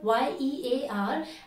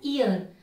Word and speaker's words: year: that I have seen a lot of people pronouncing this word y-e-a-r as ear that's why they say an ear which is